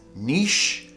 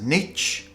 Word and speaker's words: niche: So it can be pronounced as niche or as niche. To be honest with you, native speakers still haven't decided which one. They're both accepted as being correct.